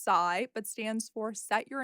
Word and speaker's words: SYI: She is the founder of SYI, pronounced sigh, but stands for Set Your Intention Acupuncture.